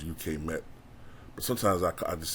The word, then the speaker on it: UK Met: uh the icon model I think it's called UK Matt um I think it's actually pronounced UK met but sometimes I just said you've met them